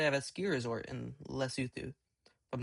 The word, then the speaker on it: Lesotho: So, I'm pretty sure they have a ski resort in Lesotho. If I'm not wrong. Okay, so it is not Lesotho, it is Lesotho.